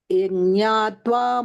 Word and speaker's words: यज्ञात्वा: First you pronounce yaj, then ñatva. Together.